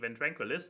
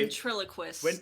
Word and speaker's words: ventriloquist: have great proof that keyframe is a fantastic ventranquilist anyways this was not how you pronounce this word is it anyway ventriloquist i was close welcome to the show for